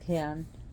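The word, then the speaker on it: Cian: things his father is canned I hope I'm saying it right c-i-a-n and his mother is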